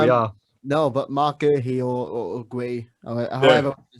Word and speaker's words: Guéhi: So I say Mark Guéhi. Yeah, as well, like Mark Guéhi. So we've got three different pronunciations here. So we've got Guéhi, and I've said all season, I've been calling him Mark Guy. Mark Guy. Nah, that's just wrong.